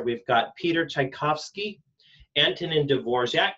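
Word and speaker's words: Dvořák: So from left to right on the screen here, we've got Peter Tchaikovsky, Antonin Dvorak, it's not pronounced anything like it looks like, Dvorak, there's a J in there, and Sergei Rachmaninoff is the guy on the right, from left to right.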